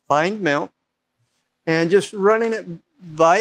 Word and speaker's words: findmnt: I pronounce it find mount.